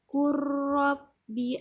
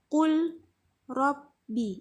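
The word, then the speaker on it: قُلْ رَبِّ: Jadi ada huruf lam yang mati bertemu dengan huruf ro yang hidup atau berharakat fathah. Jadi harus dibaca, diidghamkan dan ditasydidkan. Jadi kalau bacanya qul rabbi itu salah.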